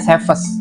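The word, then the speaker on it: Țepeș: mendapat julukan flat sefes tulisannya tepes Tapi bacanya sefes ini dalam bahasa Rumania ya dia adalah putra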